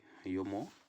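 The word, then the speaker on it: Jomo: The Gentleman of the Jungle, written by Yomo Kenyatt. Here Yomo Kenyatt, J is there at the beginning, but don't pronounce it J letter there. It is silent.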